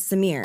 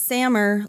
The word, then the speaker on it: Samer: to pronounce his name I thought it was Samir I did too but he said it's Samer like Hammer whoa yeah well that's